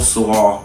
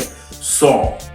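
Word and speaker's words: Saúl: Mexican boxer Canelo Saw Saw Alvarez. Did I pronounce that right? Saul Saul Alvarez.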